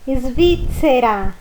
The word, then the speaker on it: Svizzera: E depois, na última frase, no, sono svizzera. Olha o som da pizza. Svizzera.